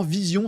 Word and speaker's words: Veesion: Vision, ça s'écrit de E. V E E S I O N.